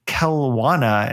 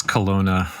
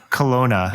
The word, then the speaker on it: Kelowna: homeland is infested with douchey bros up in kelawana am i pronouncing that right matthew it's kelowna kelowna thank you which is located obviously in canada